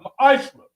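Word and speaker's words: ma'aser: Means 10th in the Hebrew. It's pronounced ma'ishra.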